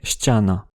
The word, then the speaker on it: ściana: Il a quasiment éliminé les consones molles comparé Stana avec le polonais Stiana.